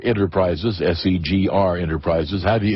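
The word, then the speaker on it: SEGR: say you say the you say the initials you don't you don't try to make it into a word that's correct gotcha I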